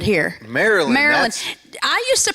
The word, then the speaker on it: Maryland: all hey we got lots of we got Maryland here Marilyn Marilyn I used to pronounce it Mary land and then I was